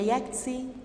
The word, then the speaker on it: Yangtze: second one is the Yangtze River take care that the T is silent here what about other landforms